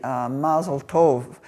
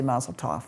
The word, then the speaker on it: Mazel Tov: And it's the Yiddish pronunciation. If you did it in Hebrew, you would say Mazel Tov, but we say Mazel Tov. That's the Aramaic pronunciation.